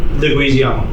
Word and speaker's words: Leguizamo: I want to pronounce this correctly. Favreau or Leguizamo? Leguizamo.